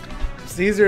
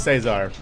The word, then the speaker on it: Cesar: my name correctly bro Caesar is not my actual name it is Cesar if it's English if it's Spanish it's Cesar depending your background but yeah just fun